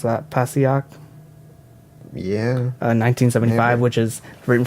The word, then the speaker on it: Passaic: How do you pronounce that? Passaic.